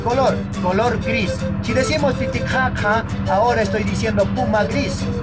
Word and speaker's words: Titicaca: En Aymara no se dice Titicaca suave, ¿no? Es mucho más fuerte la pronunciación. Como lo dije al inicio, Titi Jaja. Cuando digo Titi Jaja fuerte, ya estoy hablando Aymara.